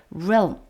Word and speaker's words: realm: realm 해서 L과 M 사이에 모음을 집어넣어서 realm 뭐 이렇게 하면 안 된다는 것이죠. realm 하고 한 단어였고요.